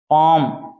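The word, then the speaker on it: palm: पाम क्या है अभी पाम पाम होती है हथेली इसमें एल साइलेंट है क्या भी एल साइलेंट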